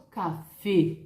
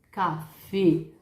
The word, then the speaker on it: café: Eu hablo café. La E é mais cerrada em espanhol, sim? Se você tiver essa dica em mente, isso vai ser muito legal para sua pronúncia de espanhol. La E, café, ¿cierto?